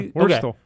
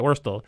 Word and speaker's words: Wurtle: is that how you pronounce it? Yeah, Wurtle. Okay, Yeah. Wurtle.